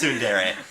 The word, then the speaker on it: tsundere: Yes, and we not- can get back on the same thing, but it's fucking pronounced tsundere.